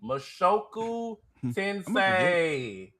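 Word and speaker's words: 無職転生: Mashoku tensei. That's why you are the pronunciation king.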